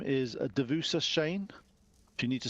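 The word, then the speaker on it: Duvessa: see her at 11 o'clock her name is devusa Shane if you need to spell that that's d-u-v e double s a and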